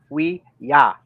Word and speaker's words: Ouija: By that logic, it should be roughly pronounced as oui ja.